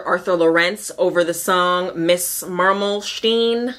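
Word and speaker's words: Marmelstein: lorence over the song Miss maralen Miss Marlin I don't know how you say it I should have looked up let me look up how that song goes actually miss marstein miss marstein I looked it up it's Miss marstein look how imperfectionist that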